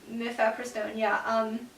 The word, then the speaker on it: mifepristone: And that's understandable because mifepristone, is that how you say it? Yeah, mifepristone, without effective enough progesterone in the body, the embryo won't have enough resources to grow effectively.